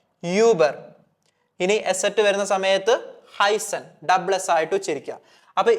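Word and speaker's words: heißen: ഇവിടെ നിങ്ങൾ ഒന്നും ചെയ്യേണ്ടതില്ല ഡബിൾ എസ് ആയിട്ട് ഉച്ചരിച്ചാൽ മതി ഓക്കേ ഫോർ എക്സാമ്പിൾ ഈ വാക്ക് ഉച്ചരിക്കുന്നത് ഹൈസൺ ഹൈസൺ അതായത് ഈ ഒരു അസറ്റ് വരുന്ന സമയത്ത് നിങ്ങൾ എന്ത് ചെയ്യുക നമ്മുടെ ഇംഗ്ലീഷിലൊക്കെ ഡബിൾ എസ് സ്ട്രെസ്സ് ചെയ്തിട്ട് എന്ത് ചെയ്യുക ഉച്ചരിക്കുക ഹൈസൺ ഹൈസൺ സോ ഈ ഒരു എക്സാമ്പിൾ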